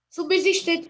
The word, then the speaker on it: subsistente: Subsistente tem quantos S's? Tem 2. Só que o B é mudo, né?